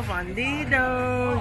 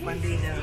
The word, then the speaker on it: fundido: Queso fundido. Yes, queso fundido. You said it Americanized. You said it too Americanized the first time.